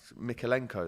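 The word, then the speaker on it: Mykolenko: almost but no everton are fighting back um mikhailenko that's how you say his name we scored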